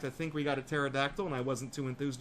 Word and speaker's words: pterodactyl: In fact, I think we got a pterodactyl, and I wasn't too enthused about it because nobody likes pterodactyls or pteranodons, whatever the hell they're called. The P is silent, okay?